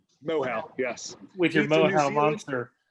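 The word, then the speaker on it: Moehau: Well, and I think with this New Zealand, how's that pronounced? Mohow? Mohow, yes.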